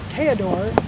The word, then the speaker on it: Theodor: 4 years later to Theodor chillis and he actually pronounced that teodor because that from Germany that's how they and so he